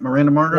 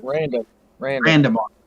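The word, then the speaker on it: Randa Markos: Is that how you say it? Miranda Marcos? No, Randa Marcos. Okay, Randa Marcos.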